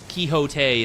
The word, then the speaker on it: Quixote: Yeah, so the OG book, Don Quixote, Quixote is the correct pronunciation.